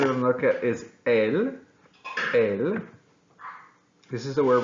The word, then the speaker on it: él: It's pronounced the exact same without an accent, which is saying the.